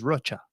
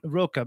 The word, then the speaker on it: Rocha: That's how you say my last name in Spanish is Rocha. But you pronounce it Roca because it's growing up.